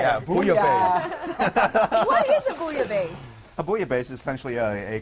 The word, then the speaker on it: bouillabaisse: Matt, how do you say it? Bouillabaisse. Bouillabaisse. That's how you say it. Yeah, bouillabaisse. What is a bouillabaisse?